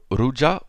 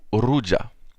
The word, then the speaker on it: ruja: Alors le R, vous le prononcez comme vous le pouvez. En général, on le roulera, c'est-à-dire légèrement ou de manière plus prononcée. Du genre ruja ou ruja. Mais si vous n'y parvenez pas, vous pouvez tout à fait le prononcer dans votre langue. Donc ici en français, ça donnera ruja.